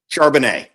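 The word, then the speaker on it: Charbonnet: I've heard his name, but Charbano Charbanet. Help me. Give me the pronunciation guide. Charbanet.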